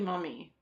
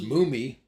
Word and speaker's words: Mumy: on this is Billy Mummy you would think it would be pronounced Mumy but it's mummy yep just good see